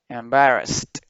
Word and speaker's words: embarrassed: Em, emba, embarrassed. Acá la D se pronuncia como una T, porque como termina en ED en pasado, entonces esta ED se pronuncia como una T, ¿ok? Sería embarrassed.